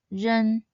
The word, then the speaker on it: 人: It is made up of the initial and the nasal final, ren. This character should be read in the second tone, 人.